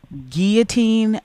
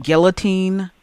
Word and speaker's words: guillotine: I'm like, it's pronounced guillotine, not guillotine.